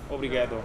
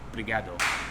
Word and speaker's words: obrigado: Obrigado. Complimentary. Also, I guess. if you want to sound like a local, you don't say obrigado, you say obrigado. They seem to Obrigado. drop the first O.